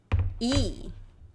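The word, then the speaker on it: ㅣ: The pronunciation is, you already know from the names of consonant. What is it? 뭐예요? What is this? When we were reading consonant names, it was here. It's E.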